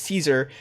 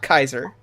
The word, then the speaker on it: Caesar: is how they pronounce Caesar. And since I don't respect them, I'm saying it's Caesar, not Kaiser.